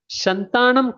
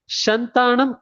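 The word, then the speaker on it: Santhanam: committee, Balwandra Mahata committee, Shantanam committee and Nolan committee and the correct answer is Shantanam committee or Shantanam committee either way you can pronounce it.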